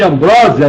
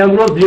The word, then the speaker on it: ambrosia: Vale pela dos Deuses pessoal chama muito de Ambrósia né mas parece que a pronúncia certa é ambrosia dos Deuses alimento da